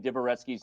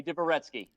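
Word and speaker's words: Dvoretsky: you've come so far it's time for you to start saying diverescue's name right now that you're playing end games like divoretsky would be proud of it's time to say his name right come on say divoretsky diviretsky well that might sound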